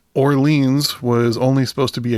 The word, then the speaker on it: Orleans: wondered is it orans from hearing band members pronounce the band name it's Orleans but yeah I got to say it's funny